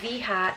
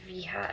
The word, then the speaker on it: Veja: These ones are the Veja, that's just how I'm going for with the pronunciation, Veja V10.